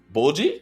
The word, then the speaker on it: Bojji: So to see Bojji, that's how you pronounce his name.